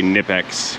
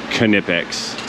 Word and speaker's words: Knipex: I like to say Knipex because the K is silent in English. But the Knipex people say it's Knipex.